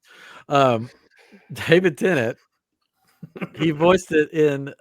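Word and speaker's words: David Tennant: shamed I feel shamed I don't know why I said that it's how you pronounce it in France I gu is yes I would just came from Paris um David tennet he voiced it in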